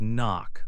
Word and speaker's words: knock: Another example is knock, like when you knock on a door. The K is silent in all these words.